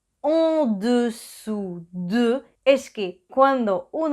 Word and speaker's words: en dessous: U, dessus, au-dessus y en dessous. Primero es el sonido en, y para hacer en es como pronunciar una A, pero debe bajar la